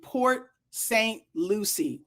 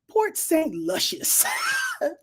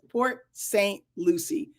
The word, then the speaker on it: Port St. Lucie: See, Port Lucy, pronounce Lucy, Port St. Lucie. Okay, thank you, Maya. I didn't add luscious dame to the end of it. Port, what is it? Port St. Luscious.